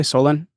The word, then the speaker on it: Solin: He's born in Soluni, Dalmatia, which is now Solin, Croatia. Am I pronouncing that correctly? Solin?